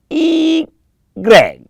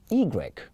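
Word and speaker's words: i grec: us why the Y is one to go e Greg e Greg e Greg I could spell igre um i g r e k e Greg how do you spell it if you have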